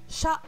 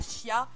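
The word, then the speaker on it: しゃ: Là, il faut faire attention, il y a une petite exception. C'est bien shi plus un petit ya, petit yu, petit yo. Mais il n'y aura pas de y prononcé. Ça va nous faire sha, shu, sho. Et pas shia, shu ou shio.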